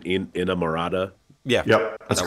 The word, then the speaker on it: inamorata: Please, I think this is the pronunciation, Inamorata.